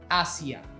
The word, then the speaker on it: hacia: This one may be tricky if you are in Latin America since we don't really differentiate the Z from the S. But in Spain, however, you can tell the difference by pronunciation.